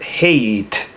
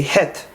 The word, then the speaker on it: Het: eleven head twelve oats some of these is going to be hard because ashkenazim added sound for example an 11 they would pronounce as hate hate we say het in 13 they would